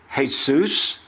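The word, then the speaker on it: Jesús: not only that but Jesus as a code can be pronounce Jesus hey soos Yaesu Yeshua or it can be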